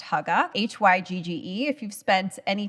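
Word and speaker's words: hygge: a concept called how I'm pretty sure it's pronounced Hugga h-y-g-ge if you've spent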